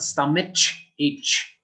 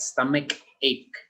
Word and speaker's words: stomach ache: cup sound stomach ache it's not stomach h you do not say like that stomach ache it's like a k sound so i hope you